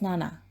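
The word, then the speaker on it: なな: their name room 707 in Japanese 7 is pronounced as Nana while staying in room 707 both Nana experienced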